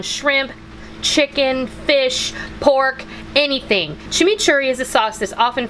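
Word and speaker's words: tximitxurri: Chimichurri, the etymology of chimichurri sauce probably comes from the Basque, in the Basque language, it would be Chimichurri, which is spelled T-X-I-M-I-T-X-U-R-R-I, and loosely translated, it is, quote, a mixture of several things in no particular order.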